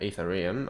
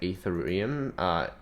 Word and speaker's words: Ethereum: I think some people say Ethereum. Ethereum is because they pronounce the first ether and then they just say eum.